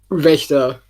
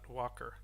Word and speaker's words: Wächter: Well, it's it's a German word, Wächter. You can pronounce it however you will. The German pronunciation is Wächter. It means Victa. guardian. Victa. Not Walker.